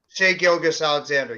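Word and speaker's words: Shai Gilgeous-Alexander: guy like uh SCS I can't I can't pronounce it SGA Alexander say gilgas Alexander yes thank you so maybe that's the reason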